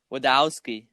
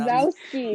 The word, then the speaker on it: Wazowski: You did a Mike Wadowski. Wadowski. Yes, I did. Did I say it wrong? Wadowski. Wait, How is it Wazowski. Yes, you did. Was that? Oh, there's a Z in there.